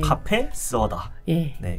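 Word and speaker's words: cà phê sữa đá: 반미 샌드위치와 카페 쓰어다음 이게 제가 잘못 발음한게 아니라네 베트남 커피 이름을네 거기 이름이 맞습니다 다입니다네 카페 스다네 그리고 10월 13일 금요일에는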